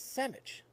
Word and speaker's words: sandwich: The first one, which absolutely drives me nuts, is sandwich. That's right, you heard it. Sandwich. That is the proper way to say that word. There is no D in there.